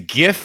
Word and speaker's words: GIF: yet damn it gene it's gif with a hard G Ryan's friend Patrick from